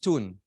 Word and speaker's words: Tull: a pure delight so his Excellency and it's pronounced tune is Excellency Mr tricerat Ambassador extraordinary and planet potentiary of the